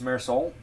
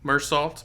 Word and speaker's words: Meursault: also it's so it's it's mere Soul that's how you say his name yep uh I I think it's something like that that's probably better than the way I just been saying mursalt but I think the way you pronounced it is probably closer to Accurate yeah I know there's